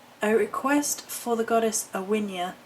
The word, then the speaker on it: Aine: calling it it's a request for the goddess awia spelled a a i n e pronounced awia who is the Celtic Fay goddess of whom